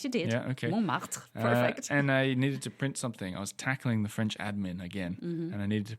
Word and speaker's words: Montmartre: Montmartre, perfect.